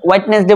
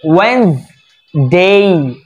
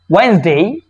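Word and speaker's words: Wednesday: এবার হোয়াইটনেস white white হোয়াইটনেস ডে বলি থেকে আমরা ঠিক না এটাকে আমরা হোয়াইটনেস ডে বলি কেউ আরো অন্যভাবে বলে এটা ভুল উচ্চারণ আমরা সঠিক উচ্চারণ দেখব এটা হবে ওয়েন্স ওয়েন্স ওয়েন্স এখানে টান হবে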